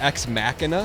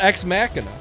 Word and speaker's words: Ex Machina: It's not ex machina. Nick Here Nick's the decider. Nick, how do you say it? Like mach one, mach two. Yeah, but I mean it's not spelled like mach one or mach two. That is kind of No, it has an i n a at the end.